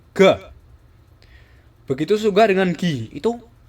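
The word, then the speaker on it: が: yaitu dakuon Oke jadi ga itu berasal dari huruf k ditambah dua petik di atas nah huruf k ini kan huruf k kalau di tambah dua petik di atas kita sebutnya dengan ga begitu juga dengan Gi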